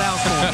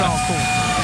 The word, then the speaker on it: Alcorn: Is it just a little bit of that Mississippi draw, all corn? But it's not Alcorn, it's all corn.